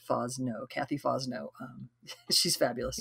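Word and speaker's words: Fosnot: might have seen her name all right this pronounced fawz no kathy fosno um she's fabulous yup okay so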